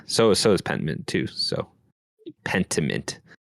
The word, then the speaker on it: Pentiment: So Pentiment. I keep saying want to say penultimate. It's not.